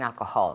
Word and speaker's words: alcohol: Okay, accent on the first one. Alcohol. One more time. Yes, he gave up drinking alcohol. Okay, very good pronunciation. Remember, alcohol, the accent goes on the first syllable.